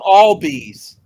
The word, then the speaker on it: Albies: Pronounce all bees.